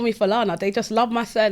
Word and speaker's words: Falana: I'm not sick you said it right Solana yeah that's what I thought I've heard people pronounce it in different ways but I thought my way was direct some people actually just call me philana they just love my son they were just